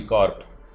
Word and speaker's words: corps: yeah it's funny yeah it's one of those words where the very dominant and prominent alphabet is silent otherwise it should be corp c-o-r-p corpse with an s also like like both the p and the s are silent so it's cool why